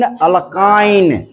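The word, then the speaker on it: alkyne: ठीक है, स्पेलिंग पे, उच्चारण पे ध्यान दीजिए। अल्केन, पहले एन बोल रहा हूं, फिर इन, ए बोला पहले ए, फिर ई, फिर आई। अल्केन, अल्कीन, अल्काइन, सीरियल में याद कर लीजिए इसको।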